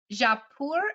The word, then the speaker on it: Jaipur: Tell us about Jaipur.